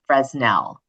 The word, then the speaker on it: Fresnel: the order of the Fresnel? Okay, I'm going to jump in and say the guy was French, so we it's Fresnel is the proper pronunciation.